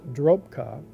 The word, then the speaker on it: Dropa: Sixth, the modern Dropa people, pronounced locally as Drok-Pa, who are small and weak, are allegedly descendants of these unions.